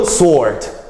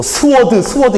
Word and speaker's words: sword: 그리고 sword. 또 스워드 이러지 마세요. sword라고 발음하셔야 돼요.